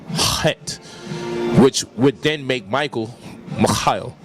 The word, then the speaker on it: Michael: You have the word like Michael, which should be Mikhail, but it's pronounced Michael. CH is pronounced with a K.